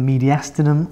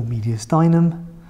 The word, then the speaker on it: mediastinum: vessels are within the media sternum or mediastinum and you'll probably hear both pronunciations and if the lungs